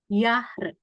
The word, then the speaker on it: Jahr: Dibacanya kayak huruf Y. Contohnya nih, Jung, Jahr. Jadi bukan J, tapi bacanya kayak Y.